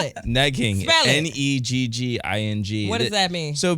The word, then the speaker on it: negging: what we do we're good at it's like neing right it's like we're going what you call me neing spell it neing n e g g i n g what does that mean so basic I've been